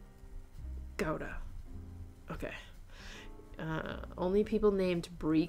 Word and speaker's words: Gouda: Oh, Gouda is actually pronounced Gouda. Gouda.